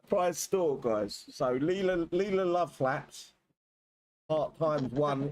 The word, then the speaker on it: Layla: So Layla love flaps. Part times one is 4,000. You can ignore that. Ignore the 4 parts. You just get the Layla pussy flaps times 10. Layla.